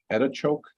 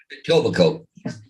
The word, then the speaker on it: Etobicoke: Am I saying that right? Etichoke? The what? Etichoke, the city of Etichoke. It's west of Toronto a little bit. Etobicoke. Etobicoke? Yeah. Yeah. Etobicoke.